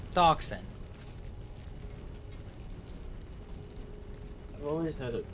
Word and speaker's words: Dachshund: No, the X-Bun because it's based on it's ducks, The like the Dex Dachshund? Dachshund. The Dachshund? Dachshund. I don't think you're saying that right. I am because it's the German word.